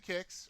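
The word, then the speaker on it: Qix: I could do Kicks or Quicks, is the whoever wants to pronounce it.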